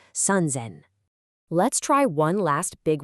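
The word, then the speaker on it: 三千: It's sunzzen. Listen to that auditory anchor. The s in zen completely changes to a buzzing z sound. Sunzen.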